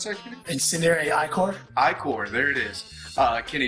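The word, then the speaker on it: Ichor: Now, because of my Incendiary Arcan, is that how you pronounce that, Kenny? Incendiary Icor.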